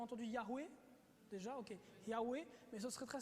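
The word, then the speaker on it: Yahweh: complet y hw h la prononciation très certainement serait non pas jéhovah mais serait très proche de ya recours nous avons entendu yarou et déjà ok yahoo et mais ce serait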